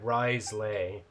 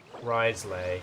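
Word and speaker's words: Wriothesley: Also, before you make the same mistake as I did, it's pronounced Risley. Risley, yeah.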